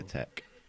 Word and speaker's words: LaTeX: It's actually pronounced latex as well, I didn't know that before. Yeah, tech. Or just tech.